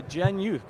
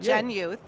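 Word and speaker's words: GENYOUth: are working with uh gen youth correct is that did I say it right absolutely you did gen youth short for Generation youth generation youth can you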